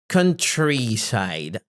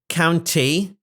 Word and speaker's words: countryside: The pronunciation of this word is countryside. Countryside. Countryside. It's not count. It's not county. It's countryside. It's country.